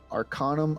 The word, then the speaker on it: Arcanum: is called what is it Arcana Arcanum it's Arcanum Academy of mystical Studies arum Academy um yeah hold on it's spelled uh a r c a n u